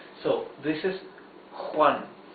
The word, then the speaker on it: Juan: So for example, the name Juan here, J-U-A-N. Letter J, or J, is not like the English H, the soft sound, smooth. No, it's a rougher sound.